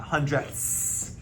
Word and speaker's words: hundredths: And you'll note, hopefully you can hear it, that I'm really saying that TH sound, that hundredths.